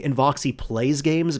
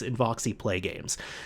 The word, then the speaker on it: Inoxy Play Games: I kept saying Invoxy Plays Games because that's what made sense to me, but no, it's Inoxy Play Games.